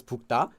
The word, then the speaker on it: 붉다: So 붉, it looks like 붉, pronounced as 붉다.